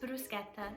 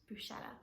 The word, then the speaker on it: bruschetta: we are making bruschetta and yes it is pronounced bruschetta and not bruschetta is a very simple and delicious dish